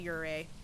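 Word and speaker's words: Yurei: A lot of streamers pronounce it yuri. It's a ure.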